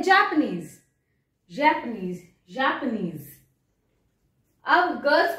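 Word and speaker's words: Japon: Italy okay next अब जापान जापान की spelling गलत है बताओ फ्रेंच में जापान को जाप बोलते हैं क्या बोलते हैं जाप जा प जापो मैम कितना फनी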